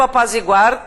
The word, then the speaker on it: apazigua: Gente, a pronúncia forte está aqui, tá? Não apazigua, né? Apazigua. É bom, aqui a sugestão é que você sublinhe a sílaba tônica, né?